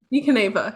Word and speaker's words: Caneva: So Caneva, right? Caneva, yeah. Caneva. Okay, I was kind of not. There's a city called Caneva in modern day Italy, if that helps remember.